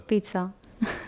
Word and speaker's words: pizza: Pizza con TS.